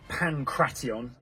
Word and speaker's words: pankration: so we're starting with pantion finally the correct pronunciation although pankration does not